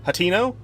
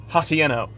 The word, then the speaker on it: Hateno: It's pronounced Hatino. My dumb stupid brain pronounces it Hatieno.